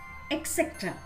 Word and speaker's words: etc.: Etc. Right? But the correct pronunciation of this word is etc. It's etc.